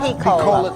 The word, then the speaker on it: P-Cola: P-Cola, thanks. Long E. P-Cola? No, long E. P-Cola. P-Cola. Yeah. P-Cola. Yep. That's how you say it.